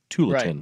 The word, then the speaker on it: Tualatin: saying okay no I I was correcting your pronunciation of Tualatin to tulon we will be down